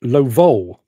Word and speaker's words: Lovol: The mighty David Phillips says, pronounce Lovol. Emphasis on the last syllable.